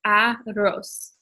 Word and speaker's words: arroz: And how you say that word, it's arroz. So you kind of roll the R in the middle.